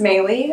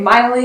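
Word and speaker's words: Meili: know my name is maylie and that's spelled m m-e-i-l-i i know it's very confusing most people pronounce it incorrectly so i get miley a lot i get melee a lot but yes my name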